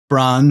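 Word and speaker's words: Brahan: B R A H A N. I think I'm pronouncing it okay. Please correct me if I'm wrong. Bran. It's her place in Scotland.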